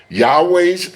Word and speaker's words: Yahweh: Notice that the vow points underneath Yas Yahweh's name are different than 3068 and produce the pronunciation Yahooi. The name Yahweh is the most accurate pronunciation of the Most High's name.